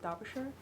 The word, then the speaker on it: Derbyshire: Derbyshire? Wait, what? It's pronounced Derbyshire.